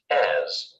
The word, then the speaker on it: as: the dialogue the word as marked in blue is usually unstressed and pronounced with the short unclear vowel schwa when we use it